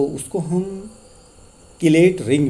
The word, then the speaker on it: chelate: लेकिन किलेटिंग ligand as the name stated किलेट, इसको कहीं पे प्रोनाउंस किया जाता है चिलेट करके भी बोलते हैं. तो मोस्टली जो एक्सेप्टेड किलेट करके हम यहाँ पर बोलेंगे.